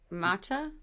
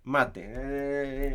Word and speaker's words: mate: What matcha? Mate.